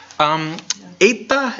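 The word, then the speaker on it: ἦτα: no a tepee eita is a long a sound a Sona aid night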